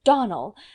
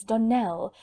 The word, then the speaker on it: Donnell: you pronounced our name Donald now Miss Shirley the correct pronunciation of our name is Donnell Accent on the last syllable I hope you'll remember